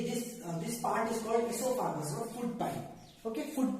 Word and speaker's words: oesophagus: इसोफागस, OESOPHAGUS, this is the spelling of इसोफागस। बस इसका pronunciation ई से स्टार्ट होता है, ठीक है, बट स्टार्ट्स फ्रॉम ओ।